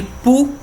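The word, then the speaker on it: pou: E pu, que é a mesma pronúncia também, tanto no singular quanto no plural, pupu, que é piolho.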